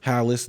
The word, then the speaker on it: Halis: I found out how to say his last name. Okay. Allan Halis. Howless. Nobody would ever thought that because nowhere is anything that's pronounced like that spelled with one L.